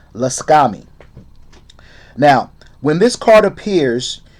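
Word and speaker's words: Lakshmi: guys can look that up okay uh it's pronounced la scami yeah that's how it's pronounced laskami now when this card appears you are being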